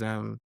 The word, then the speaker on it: Tshuma: Chuma is Tshuma. Spell it again. TSH. Yeah, UMA. UMA.